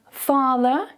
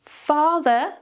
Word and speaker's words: father: So notice that we don't pronounce any of the R sounds. Father, a long vowel sound.